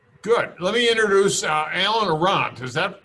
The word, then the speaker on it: Arant: Let me introduce Alan Arant. Is that correct, Alan? Pronounced Arant, but kind of like you said, close enough. Arant.